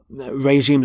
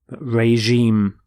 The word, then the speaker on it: regime: is changed to reg regime notice the pronunciation of the g is the sound regime so the fast the